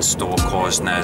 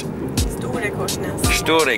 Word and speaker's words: Storekorsnes: this is for you yeah we've arrived in store Coes which is not how it should be pronounced how should it be pronounced please St storyes I have to watch my English now I'm